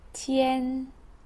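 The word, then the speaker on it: 天: hommes c'est le ciel ça s'écrit comme ça et ça se prononce tienne et maintenant si je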